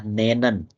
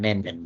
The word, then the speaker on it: nennen: Nennt itu dari kata nennen. Nennen ya, bukan nenen bacanya. Nennen. Menyebutkan.